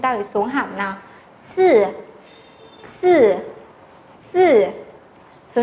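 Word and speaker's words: 四: Sư, sư, sư.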